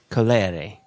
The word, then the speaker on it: Colere: Colere. Yeah, because the first E is colere, and the second E is a.